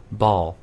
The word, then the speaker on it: ball: 볼이 아니라 ball. 그러게요. 네. 이렇게 해야 네, 제대로 된 발음 들리는 거고요.